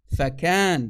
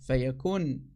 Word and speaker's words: فكان: فكان, not فيكون. فكان, that's the correct way to say it in the Arabic, not fayakun.